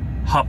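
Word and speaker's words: Hauppauge: who told me that the way you pronounce the town that I'm going to is hog hog H hog not h h h h Au PP a u g e hog feel free to correct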